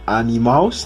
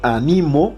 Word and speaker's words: animaux: Sino que usted como alguien como alusión como sería animaos, no. Es animo porque la AU en francés tiene el sonido de O.